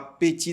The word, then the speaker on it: petit: Aqui é biquinho, você não pode falar petit déjeuner. Muitos brasileiros falam petit déjeuner, porque eles escutam em filmes e acreditam que essa é a pronúncia correta, mas não, é petit, biquinho, petit. Olha aqui o som do i no final.